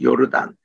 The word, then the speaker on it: 요르단: 꿈을 했다 해서 그래서 우리 발음할 때 요단강보다는 요르단 바로이 요르단입니다 영국으로부터 1946년에 독립된 나라이기